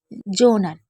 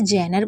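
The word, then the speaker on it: genre: उसके बाद है जोनर वैसे तो हम इसे जेनर पढ़ सकते हैं या जनर लेकिन वह गलत होगा क्योंकि मैंने जैसे बताया इस वीडियो में सारी वह वर्ड मीनिंग है जो रूल्स के अकॉर्डिंग नहीं पढ पढ़े जाते तो इसको आपको जोनर पढ़ना होगा जोनर का मतलब होता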